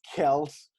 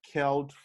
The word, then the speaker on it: Kjelt: guy his name is kels uh kelt how do you say your full name my good sir uh celt all right yeah kelt is a danish name is like sanskrit